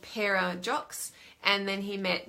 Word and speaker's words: Pera: Peter is his nickname, P-E-R-A. But the Maoris in New Zealand, they pronounce it Peter, but the non-Maoris don't roll their R, so they call it Pera.